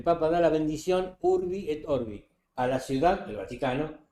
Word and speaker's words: orbi: Orbi, no orbe. El modus operandi sin la sirvi para para la ciudad y para el mundo. El papa da la bendición Urbi orbi a la ciudad, el Vaticano y al mundo.